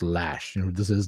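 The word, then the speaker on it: Loesch: from you know Dana I want to say Lo but apparently it's pronounced lash you know who this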